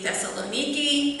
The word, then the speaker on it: Thessaloniki: I know some people pronounce it Thessalonica, but in Greek it would be Thessaloniki, and just for the purpose of clarification, I will pronounce it in the American way, Thessalonica.